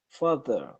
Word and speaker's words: father: okay my turn father father father so make it a little more of an ah sound father yeah mmm father